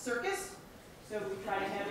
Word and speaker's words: CRCS: of you who wonder crcs is pronounced circus so we kind of